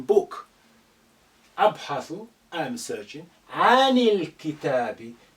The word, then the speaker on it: الكتاب: عن الكتاب. Again, this alif is silent because it's not at the beginning. The lam retains its sukun because the kaf is a moon letter. It's not a sun letter.